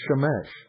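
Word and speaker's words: שמש: son ladies and gentlemen is shamesh which is a pure Babylonian word and it's spelled Shin MIM Shin in the Hebrew sh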